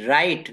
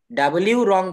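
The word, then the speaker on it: wrong: আর ও এন জি এখানে ডাব্লিউ টা silent করে রাখতে হবে ডাব্লিউ রং বলা যাবে না আর ও এন জি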